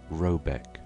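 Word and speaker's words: Råbäck: called r a b a e c k pronounced something like roebek though that is not its name it is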